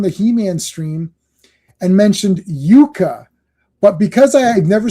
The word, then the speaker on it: Jukka: Someone was on here on the He-Man stream and mentioned Jukka. But because I had never seen his name spelled out, it was j u k k a.